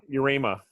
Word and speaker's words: Yarema: John John I'm always gonna screw up the pronunciation on your last name though you rhema urema you rely your urema there we go John you Rhema talking to